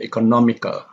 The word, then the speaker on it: economical: Here we have economical. If it is only economic, then the stress is on core. But if you have with all over here, the stress is on the 3rd syllable before the end.